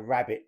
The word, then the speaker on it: rabbet: Whereas in America, we tend to talk about it being a rabbet plane, which is not the same as the animal. It's spelled R-A-B-B-E-T as opposed to R-A-B-B-I-T.